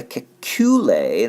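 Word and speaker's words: Kekulé: Okay, for the Kekule, that's how that's pronounced, we're going to draw out all the bonds as lines.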